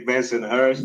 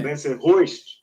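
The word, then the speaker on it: Bensonhurst: How they say it? They don't say Benson Hurst. Yeah. Benson Hoist.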